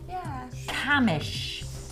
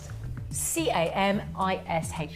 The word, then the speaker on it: Camish: Excuse the pronunciation, he says. Sherelle Camish. C-A-M-I-S-H.